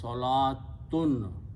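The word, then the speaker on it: صلاة: So the pronunciation of this word is salatun. In Usmani script, that's how it is written. This waw is written, it is not pronounced.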